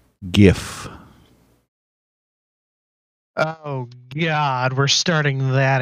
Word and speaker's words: gif: then yeah it's it's gif is pronounced like gift then yes it's it's github